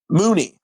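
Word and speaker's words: Munie: Mooney. Mooney, right? American American pronunciation.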